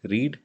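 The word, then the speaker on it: read: फिर रीड, रेड, रेड। यहाँ पे ये रीड के जो, रीड का जो ये तीन फॉर्म है, ये पहला तो हम प्रोनाउंस करते हैं रीड, और बाकी जो दोनों हैं उसको हम प्रोनाउंस करते हैं रेड।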